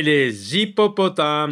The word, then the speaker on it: hippopotames: oui là c'est la liaison les éléphants et les hyppopotames donc un H mué les hyppopotames donc on